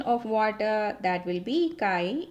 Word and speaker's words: chi: We will write like this and we will pronounce it as chi.